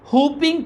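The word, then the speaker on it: whooping: आपको खसरा निकल आता हपिंग कफ हपिंग बेटा इसको डब्लू को साइलेंट करना एज के साथ हूपिंग कफ आपको काली खांसी लग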